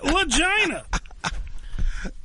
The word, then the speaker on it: Lagina: I'm looking for legina all right this is legina yeah it rhymes with vagina it's legina Ah that's by the